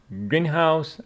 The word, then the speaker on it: greenhouse: and uh nothing else Greenhouse as the compound noun I provided and said that the meaning is different from a house which is green okay with the stress on the first syllable prositions of place we